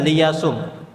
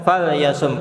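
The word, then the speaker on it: فَلْيَصُمْ: Kalau nggak ada fa-nya, mungkin kita akan membacanya dengan liyasum. Liyasum. Karena ada huruf fa, maka kita baca fal yasum, kita sukunkan huruf lamnya.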